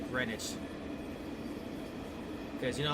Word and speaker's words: Greenwich: I I always thought was was green witch, but no, apparently the other E and the W is silent, so it's just Greenwich.